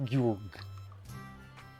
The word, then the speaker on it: Georg: Excuse me, I'm pretty sure it's pronounced Georg.